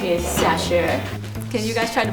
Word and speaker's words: Xiaxue: My name is Xiaxue. Can you guys try to pronounce it?